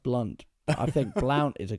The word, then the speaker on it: Blount: say your second name Blount is that how you say it it's pronounced blunt I think Blount is